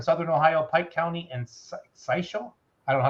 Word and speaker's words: Scioto: He says, Old Stone here, 2 polls for us here in Southern Ohio, Pike County and Sisho. I don't know how to say it. Scioto County.